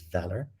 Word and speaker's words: VALR: of valor v-a-l-r uh a lot of people pronounce that in different ways but the way to pronounce it is valor like courage or value or things of that nature or the derivative is value i should say but it's valor and so today i